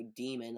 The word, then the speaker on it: Daemon: server and be like, I got this Daemon stand, or demon, apparently, even though it's spelled like Demon.